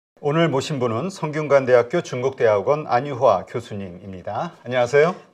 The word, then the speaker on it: 안유화: 아니, 발음을 매번 정확하게 못 하시더라고. 안유화. 자꾸 안휴화라고 들려요. 아, 그래요? 다시 해보세요. 혹시 귀에 이상이 있으신 건 아닌가요? 전 의심이 드는데. 안유화. 안유화 정확하게. 교수님 이렇게 얘기한 것 같은데.